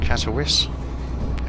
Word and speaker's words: Katowice: and we're just under two hours away from Katowice that's how you pronounce it I got a clue try this